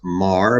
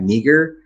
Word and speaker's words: Meagher: name is mar and it's pronounced mar but it sure looks like meager meeker performance would have